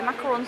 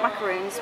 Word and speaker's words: macaron: I always remember them, they're macarons, not macaroons, because they have a top on them, macarons.